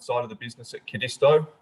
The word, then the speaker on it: Codisto: of the business at Codisto. Depending where you're from in the world, it's pronounced slightly differently. Codisto, doesn't matter as long as you remember the spelling.